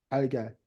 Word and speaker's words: 달걀: 근데 닭알이 요게 이제 기억이 이쪽으로 뭐 한 거야? 올라간 거야. 그러면서 달걀이라고 이렇게 우리는 자연스럽게 발음이 된 거야. 달걀.